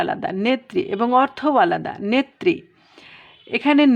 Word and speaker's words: নেত্রী: তাহলে আমাদের পূর্বের রুলস অনুযায়ী আমরা জানি যে শেষে কিংবা মধ্যে যদি রফলা থাকে তাহলে সেই বর্ণটা দ্বিতীয় উচ্চারণ হয়। দেখো এখানে তাই হয়েছে, নেত্রী।